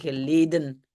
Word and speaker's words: geleden: Het was lang geleden. On dirait en néerlandais officiel et évidemment le N. Ben, on ne l'a pas prononcé ici, geleden.